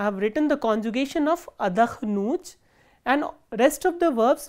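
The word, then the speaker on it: отдохну: written the conjugation of adakhnut and rest of the verbs will have the similar conjugations. So, how do we conjugate adakhnut? Ya adakhnu, and the stress is on u, which is the ending.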